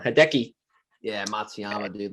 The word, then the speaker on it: Matsuyama: too i can't even say his name um matayama hideki yeah matsuyama dude like he's plus 4000 right now like